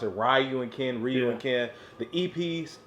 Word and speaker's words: Ryu and Ken: That's right, if you want to pronounce it, Ryu and Ken, Ryu and Ken.